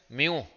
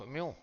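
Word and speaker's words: mu: में लिखते हैं ऐसे, इसको पढ़ते हैं म्यू, ग्रीक लेटर है, इसको पढ़ोगे प्रोनाउंस करोगे म्यू, वेयर इसको कहते हैं, इसका नाम है कोएफिशिएंट ऑफ फ्रिक्शन, इसका नाम है कोएफिशिएंट ऑफ फ्रिक्शन, नहीं?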